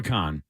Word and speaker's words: Kahan: Noah You- Khan. you So you don't talk say the weird. Kahan, the Kahan. It's just Khan. Just Khan. Okay, so Noah Khan.